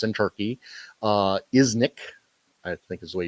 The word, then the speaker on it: Iznik: Iznik, I think is the way you pronounce it, is where it was minted.